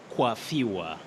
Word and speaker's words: coiffure: But in this case, the word is coiffure. Coiffure from French, but it is another word for hairstyle.